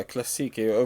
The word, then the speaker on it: كلاسيكي: I believe it was like Klasiki. Is that how you pronounce it? Yeah, كلاسيكي.